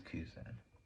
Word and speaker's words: Kuzan: It is Kuzan. Yeah. I'm correct. Kuzan does a terrible job of convincing us he's not a sword member by explaining exactly what a sword member is. As Kuzan says, he's Navy, but he ain't Navy.